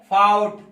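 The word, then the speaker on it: fought: उसके बाद दाव हो गया, फिर उसके बाद है फाउट।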